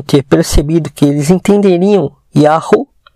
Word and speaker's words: Yah: Em hebraico aparece Yahu. E de fato temos a pronúncia Yah e não Iau, como eles ensinam, tá?